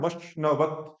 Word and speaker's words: मश्नवत्: हाँ, मश्नवत, न पूरा है ना, मश्नवत। आगे, हाँ, पोषमेवा, पोषमेव नहीं, पोषमेवा। दिवे, दिवे। अब बोलो पूरा। अग्निना रयिमश्नवत्, पोषमेव दिवे, दिवे। मश्न, मश्न, ये श है, वही वाला श। और न, ये है मश्न।